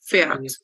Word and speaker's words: fährt: fährst y sie es fährt, ¿ok? Porque le vamos a colocar una A umlaut y lo vamos a pronunciar como si fuera una E, ¿ok?